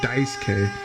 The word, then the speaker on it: Daisuke: dice gay or bi Sookie I'm assuming it's pronounced Daisuke yeah the guy just said Daisuke so it's Daisuke we have Daisuke Ishi versus